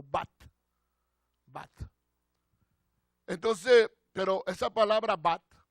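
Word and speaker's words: בת: La palabra hija es una palabra hebrea que se pronuncia, hermano, bat.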